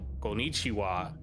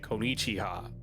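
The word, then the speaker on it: こんにちは: So instead of saying like konnichiwa, you would say konnichiha back in the day. Huh. But over time that changed, but they kept the spelling the same.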